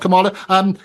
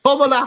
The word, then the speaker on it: Kamala: Oh no, listen, her name's not Kamala. Amy? No, not that. Or forget that. I'll vote for Trump. At least you can get his name right. But Kamala Harris, that's how you pronounce it.